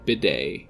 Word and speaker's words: B-Day: Is a play on the Normandy landing operations of World War II, D-Day, but it's pronounced like bidet, which is again water-related.